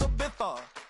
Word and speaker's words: Ibiza: Ibiza, yeah, it's pronounced Ibiza, actually.